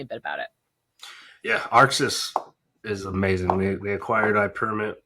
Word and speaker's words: Arxis: Arxis.